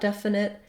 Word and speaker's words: definite: know about definite is words ending with T in American English. Americans tend to not always say that T sound. So we will mark the T. We don't leave it off. Definite would sound wrong. But definite, we use a stopped T. My tongue goes up to form the T, but I don't release the air.